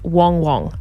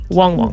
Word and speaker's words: Wang Wang: an Adela television station arguing that the name was pronounced Wong Wong this pronunciation is favored by the Adelaide Chinese Community Wong Wong there go here you